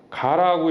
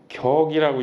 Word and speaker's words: 격: 어떤 개체 이야기 됐는데 이 청을 가라고 읽으면 안 돼요 격이라고 있는거예요 그래서 저런 대해서 주역을